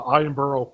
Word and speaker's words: Edinburgh: your YouTube is that let's see if I pronounce it right. The Edinburgh Fringe Festival. The Edinburgh Fringe Festival, yes.